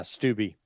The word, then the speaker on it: Greg Steube: Just as an FYI, we've got a second congressman nominating Donald Trump, Greg Steube. Is that how you say it, Jim? Yeah, Steube.